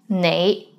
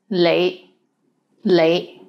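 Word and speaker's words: 你: is the word you the right way to pronounce it is nay but in hong kong many people pronounce it as lei lei let's get into more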